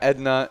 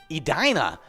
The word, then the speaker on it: Edina: it ended up uh it's uh it's not edna it's not ed in uh it's edina uh something that i did not expect at